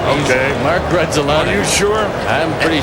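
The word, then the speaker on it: Grudzielanek: the bloopers, and in some cases, how to pronounce their names. Oh, from Krasinker to Gruppalongek. It ends with a K and starts with a G. Everybody's getting it right up here but Harry Carey. Grudzelanek.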